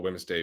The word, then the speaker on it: Wednesday: great Wednesday I call Wednesday Wednesday they really need to remove the letter D from Wednesday it makes no sense in terms of pronunciation and it's where it